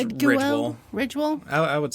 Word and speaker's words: Ridgwell: It's spelled Ridgwell. And so Ridge has an E at the end. So I was wondering if it should be Ridgwell. Yeah, I would say it's just Ridgwell.